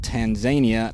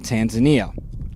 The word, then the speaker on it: Tanzania: mount kilimanjaro in tanzania i've been told by africans here that you pronounce it tanzania not tanzania okay and then the